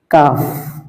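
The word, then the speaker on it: كاف: কফের সাথে অনেক সময় কাফের উচ্চারণটা মিলে যায়, মিলানো যাবে না। কফ হরফ একটু মোটা, কাফটা কাফ স্বাভাবিক কা। হ্যাঁ, কাফ কাফ।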